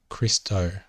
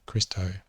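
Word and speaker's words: Χριστῷ: about accents later but this is pronounced christo and as i said the omega is the last letter of the alphabet the iota subscript underneath it that is not pronounced so christo then we have dr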